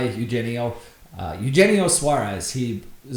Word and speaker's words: Eugenio: by your mistake um it's Eugenio Suarez okay Eugenio I've also heard it pronounced yeno I guess I'm not quite sure which one is proper uh but I've always gone by Eugenio uh Eugenio Suarez he